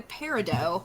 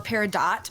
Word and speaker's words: peridot: Yours is October, so yours would be the peridot or peridot. Both are correct pronunciations.